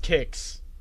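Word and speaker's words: Qix: you guys ready yeah q IX pronounce kicks let me see in the world it's pronounced kicks objectively but only for the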